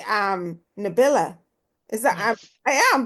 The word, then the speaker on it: Nabila: And I want to say um Nabila is that I am pronouncing it right.